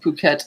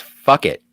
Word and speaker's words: Phuket: Yeah, this island, by the way, is about 10 miles south of Phuket in the Phuket Tao Island chain. Cat. Yeah. It's pronounced fuck it.